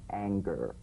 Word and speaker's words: anger: whole word for instance this is the difference between the soft G and center and the hard G in anger right for instance a singer sings but an anger there's an anger right to the ER at the end of that word is meaningless in terms of the whole word that has a hard G so it'd be like